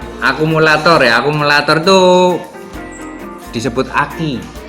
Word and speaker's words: ACCU: Akumulator ya, akumulator itu disebut aki. ACCU itu sebenarnya di bahasa Indonesia bacanya aki. Ya, aki.